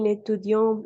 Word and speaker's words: étudient: Et il n'étudie jamais, n'étudie, ENT à la fin, on ne prononce jamais, ne prononçons ENT.